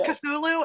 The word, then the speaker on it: Cthulhu: But yeah, it's Cthulhu and it's first of all, it's made up anyway, so you can say it however the you want.